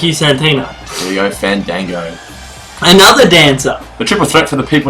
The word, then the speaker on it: Fandango: It's Fandango."